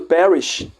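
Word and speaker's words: Parrish: curiosidade Zinha rápida Hã o sobrenome do parish tá no parish ele tem a mesma pronúncia de das da palavra em inglês que quer dizer perecer desaparecer que tem tudo a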